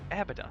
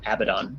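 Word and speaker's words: Abaddon: a nerd so I I looked up the the pronunciation from like the origins which is the Torah and you know the Jewish religion and there they pronounce it abidon so going to need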